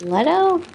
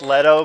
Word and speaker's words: Leto: pronounced Leto, but I think a lot of people call him Leto.